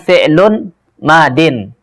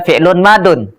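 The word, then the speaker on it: فعل ماض: Bacanya itu adalah fi'lun madin. Jangan baca fi'lun madun. Atau fi'lul madi.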